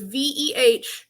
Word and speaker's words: Wehiwa: I think it's Vahave. Yes. So we will. So if you take his name, it's Wehiwa. Replace both W's with V's. So it's Vehiva.